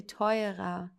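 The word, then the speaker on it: teuer: like in this case here we pronounce the r like an a. Okay, because there's a vowel and then an r. So we say toyer. Okay, you you don't really even hear the r.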